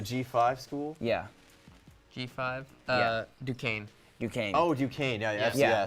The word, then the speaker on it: Duquesne: How do you pronounce that? Is it a G5 school? Yeah, G5. Yeah. Duquesne.